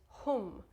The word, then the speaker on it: Hum: The chant that we're going to do is Hum, H-O-O-M, so it rhymes with room, Hum.